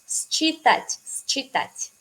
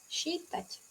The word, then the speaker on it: считать: Entonces, se escribe como считать.